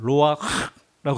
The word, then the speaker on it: 루아흐: 근데 그분이 하시는 말씀이 이 루아흐는 한국말이 없어서 이스라엘 말에만 있는데 이 발음이 너무 특이하다. 어떻게? 혓바닥을 동그랗게 말아서 입천장을 긁듯이 말하는 루아흐라고 하는 것이다.